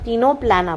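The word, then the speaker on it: Ctenoplana: है टीनोप्लाना ठीक है टीनोप्लाना में सी साइलेंट है तो इसे हम टीनोप्लाना बोलते हैं।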